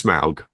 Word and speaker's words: Smaug: It is Smaug.